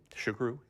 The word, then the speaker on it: Xuqeru: had a booth just a little ways up, Xuqeru. Xuqeru, yeah.